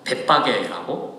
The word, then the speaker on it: 벳바게: 그래서 이 벳바게, 베이트 파게인데 이거를 다 조금 이렇게 발음을 해서 벳바게라고 발음을 합니다.